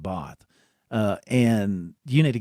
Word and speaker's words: Bath: close close to bath we say bath but they pronounce it both uh and you need